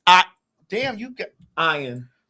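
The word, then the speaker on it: Ian Ziering: I do remember him Ian his name no his name was ion he pronounced as I oh ion zering I used to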